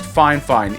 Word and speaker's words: Fifine: The only talking point they gave me was, hey, our company's pronounced Fifine, even if it's spelled like this, Fifine.